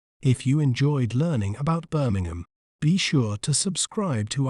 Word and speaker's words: Birmingham: do we say its name correctly we may pronounce it as Birmingham Birmingham bar Min gum Birmingham Birmingham is a major cultural and economic